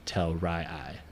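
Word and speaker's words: Telrii: Ray oen and then it's Kai and Duke tell Ry I right even though it's t l r i i you know that's how they pronounce it and if you notice we're not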